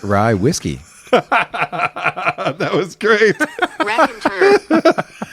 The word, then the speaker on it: Raconteur: rer Ry straight rye whiskey that was great R and turn R and turn well now that we know how to pronounce rack andur rack andur that's enough oops oh manid this